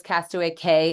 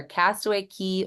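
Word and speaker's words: Castaway Cay: not to call those Cast Away K and Lookout K just like anything down in the keys that c a y is pronounced key so you're going when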